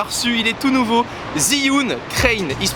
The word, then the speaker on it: Zhiyun Crane: encore on l'a reçu il est tout nouveau zyun crin il se prononce ainsi c'est un accessoire qui coûte quand